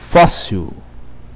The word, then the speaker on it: fóssil: Fóssil. Fóssil. IL. Fóssil. É átona. Como é que eu vou saber se é átona? Simples. A sílaba tônica é fós.